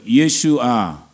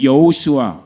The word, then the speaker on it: 예수아: 이스라엘 사람들에겐 두 가지로 보통 발음이 돼요. 따라해 보세요. 예수아. 혹은 우리가 알고 있는 여호수아.